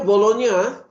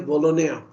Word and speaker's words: Bologna: Dan di Itali mereka membina universiti bunyinya Bologna, ejanya Bologna, B-O-L-G-N-A, tapi cara pronunciation-nya Bologna.